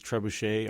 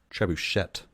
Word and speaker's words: trebuchet: whether you're going with the French ish pronunciation where trebuchet would be you wouldn't pronounce the T and I was at